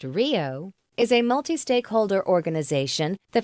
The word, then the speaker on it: RHIO: A Regional Health Information Organization, RHIO, pronounced RIO, is a multi-stakeholder organization that facilitates the transfer of healthcare information electronically across organizations and among stakeholders in a particular region.